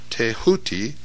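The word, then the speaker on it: Thoth: scribe of the Gods tho pronounced touti the so-called Emerald Tablet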